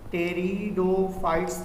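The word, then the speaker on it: Pteridophyta: इन्हनि खे टेरिडोफाइट्स चइबो हुयो, टेरिडोसाइड्स, पी साइलेंट आहिनि, टी खां पढ़ंदा आहियूं असां।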